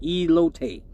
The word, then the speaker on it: elote: It's pronounced elote.